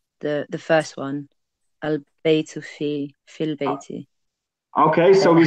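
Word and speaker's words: في البيت: So here, for example, we say fil bayti. So we don't pronounce this alif because it's known as hamzatul wasl.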